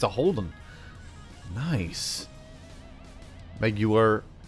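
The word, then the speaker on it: Meguiar's: Meguiar. I'm going to say it like Jaguar. Like Jaguar. Just like how Mark Strong would say. Jaguar. Meguiar.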